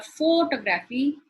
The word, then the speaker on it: photography: If I say photography or photography, the pronunciation changes.